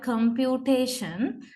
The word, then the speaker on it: computation: so we say that t carries primary stress and com carries secondary stress so this is how you write uh the word computation with the stress marks